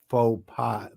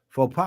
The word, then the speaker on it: faux pas: in French, you don't pronounce the consonants unless there's a vowel after, or unless it's It's faux pas, but what would be the plural of faux pas?